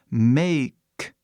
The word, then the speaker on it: make: é isso k né make que é a pronúncia certa make que significa fazer